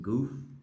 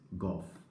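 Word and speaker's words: Gouf: name is like that starts with g-o-u-f I know the very weird name but I usually pronounce it as golf because I don't want to make fun of his name because of it sounds more like goofy I don't want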